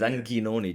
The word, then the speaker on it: Anghinoni: So today we are joined by Davide Anghinoni. I don't know if I pronounce it. That's a difficult one. It's Anghinoni, G-H.